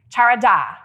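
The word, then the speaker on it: חרדה: The first one is charada, and it is spelled C-H-A-R-A-D-A-H, charada.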